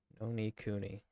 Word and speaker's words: Ni no Kuni: welcome back to part five no D Cooney Oni Cooney that's how you say it because I don't